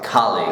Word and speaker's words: colleague: So the stress is on the first syllable. See, colleague, not colleague. No, colleague.